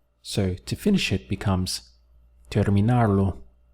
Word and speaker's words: terminar: The verb to finish is terminar. So 3 syllables.